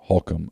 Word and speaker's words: Holcomb: at halcomb portable buildings that's spelled holcomb but it's pronounced halcum i'm told h-o-l-c-o-m-b we're